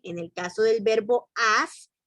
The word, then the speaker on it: as: el caso del verbo as que no se pronuncia as que se dice a ese es un verbo